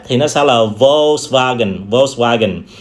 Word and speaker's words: Volkswagen: Tuy nhiên ở trong tiếng Đức á, thì cái chữ V sẽ được đọc là chữ W sẽ được đọc là V. Do đó người ta có thể đọc cái thương hiệu này là Volkswagen, Volkswagen.